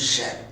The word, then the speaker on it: shall: பெருமக்களே இதையும் நம்ம பார்ப்போம் இந்த துணை வினைச்சொல்லில் செல் என்ற வினைச்சொல்லினுடைய உச்சரிப்பு இரண்டு ஒன்று செல் இன்னொன்று ஷல் செல் என்பது அது ஒரு சராசரி எதிர்காலத்தை குறிப்பதற்கு பயன்படுத்தும்போது அது ஷெல் என்று உச்சரிக்க வேண்டும் அதே ஒரு இன்டென்ஷனை செகண்ட் அண்ட் தேர்ட் பெர்சனை அது பயன்படுத்துனோம் என்றால் அல்லது வினாக்களை பயன்படுத்துகிறோம் என்றால் அதை ஷேர் ஸ்ட்ராங் ஃபார்ம் உச்சரிக்க வேண்டும் இப்போ இந்த ஷெல்லினுடைய பயன்கள்